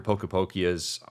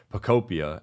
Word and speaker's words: Pokopia: But I do think that come early March, as the anticipation builds for, after Pokepokia's, I always say it wrong, Pokopia, after Pokopia's out, and you have just, Mario Bros.